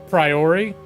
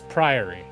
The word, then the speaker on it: Priory: I rarely do this, but before the stream, I actually looked up Priory pronunciation. And I almost immediately forgot. I want to keep saying Priory or Priory, but it's Priory.